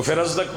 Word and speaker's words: فرزدق: مختلف انداز میں بندے ان کا نام لیتے ہیں, اصل تلفظ جو ہے فرزدق.